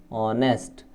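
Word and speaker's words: honest: हैं क्या पढ़ने हैं ऑनेस्ट तो ऑनेस्ट के अंदर हा जो है वो साइलेंट है तो कौन सा है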